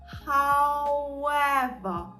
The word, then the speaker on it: however: Тобто, зверніть увагу, це не ав, а ау. Ау, ніби а у ау, хау, хау.